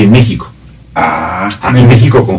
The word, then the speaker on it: México: México suena con J y se escribe con J.